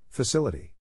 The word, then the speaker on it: facility: accent or stress is in this case the accent is in the second syllable corresponding to Sill below